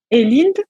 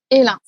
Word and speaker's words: Elind: Sur Instagram, on te retrouve sous le nom de et Linde. C'est bien ça? Tu le prononces bien? Alors, c'est Physio Hélin. Hélin, ok. Physio Hélin, ça c'est